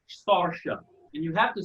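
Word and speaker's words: Saoirse: i was watching the interview her name is pronounced starship and you have to say it with the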